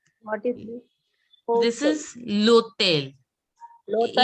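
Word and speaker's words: hôtel: This is Lotel. Local. H is Lotel. Local. Hotel. Lotel. See, H is not to be pronounced as it is silent in French.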